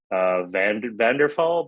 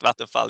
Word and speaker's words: Vattenfall: Vanderfall battery power as a service. Yes. Vattenfall. I'm probably Yeah, pronouncing it. Vattenfall, exact. Vattenfall.